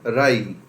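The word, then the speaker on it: wry: Right, क्या पढ़ेंगे इसको, दोस्तों जैसे जीरा, जैसे सौंफ, वैसे एक वर्ड आया आपके राई। जैसे जीरा, जैसे सौंफ, वैसे राई, ये इसका उच्चारण है, राई।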